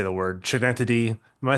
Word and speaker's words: Schenectady: I don't know how to say the word Schenectady.